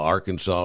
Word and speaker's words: Arkansas: Drive crew Lauren whis actually uh Arkansas is pronounced like the state of Kansas AR Kansas City ar ar Kansas City